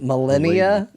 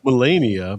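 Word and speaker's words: Malenia: I don't think it's millennia because millennia is like years, That's right? that's Like, Yeah. 1,000 years. So it's Melania, Blade of Michaela, and then there's Michaela of the Halig Tree.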